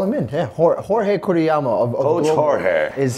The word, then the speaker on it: Jorge: Jorge, okay? Yeah. Not George. Yeah, a lot of people call him George just because of the way his name is spelled. And I've been trying to tell Coach Jorge to tell everybody that it's Jorge.